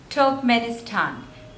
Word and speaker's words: Turkmenistan: turkey next is Turkmenistan Turkmenistan and the stress is again on the third syllable top manistan Turkmenistan Turkmenistan